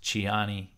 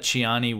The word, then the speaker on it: Tiani: general ABDO Rahman shiani also spells his name Tiani but I believe it's pronounced chiani something like that so he's proclaimed himself